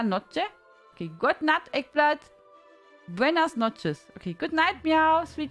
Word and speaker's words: buenas noches: Noche is feminine gender. I always thought it's buenos noches. I always thought it's like that. I always said it wrong. It always sounds like buenos noches.